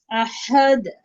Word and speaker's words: أحد: আহাদ, আহাদ।